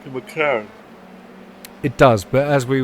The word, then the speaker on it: McLaren: You're going to expect me to pronounce it right, like McLaren. I know you will never pronounce it right. I keep saying McLaren. I've seen the... Just think, blood. Yeah, I know.